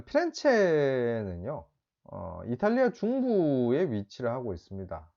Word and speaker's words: 피렌체: 자, 피렌체는요, 이탈리아 중부에 위치를 하고 있습니다. 뭐, 이제 영어식 발음으로 하면 플로렌스라고 이야기를 하기도 하고요. 뭐 이제 이탈리아식으로 피렌체라고 이야기를 하는데, 이제 이 피렌체라는 말은 꽃이라는 뜻입니다.